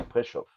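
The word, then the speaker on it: Preszow: un texte prau prau ça s'écrit P r e s Z o W mais ça se dit préchauff préchaue d'accord no préchauff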